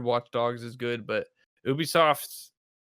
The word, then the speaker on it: Ubisoft: Gonna be Ubisoft, or how do you even pronounce it? Ubisoft. What do you guys say? Ubisoft. Okay. Perfect. Ubisoft.